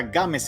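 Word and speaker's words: Gámez: Games, pero no sé si se ha dado cuenta de que esa Z al final hace que se pronuncia Games en realidad.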